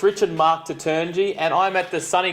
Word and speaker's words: Toutounji: It's Taturngyi. It's very easy, actually, but that's why I